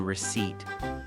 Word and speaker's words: receipt: English is full of ghost letters that you see but don't hear, like the S in aisle or the P in receipt.